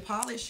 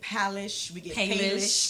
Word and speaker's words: Polish: Polish comes from actually a lot of times people can sometimes mispronounce our name we get palish English is a is one that we hear often but polish actually its PA we took the first two letters or two letters out of our first names